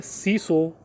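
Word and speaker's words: 清掃: पहला जो होता है वो होता है सीरी, दूसरा होता है सेटोन, तीसरा होता है सीसो, चौथा होता है सिकेट्सु और पांचवा होता है सित्सुके। यही इसका प्रोनाउंसिएशन होता है।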